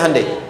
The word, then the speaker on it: Hyundai: Hyundai kan dibacanya Hyundai, kan?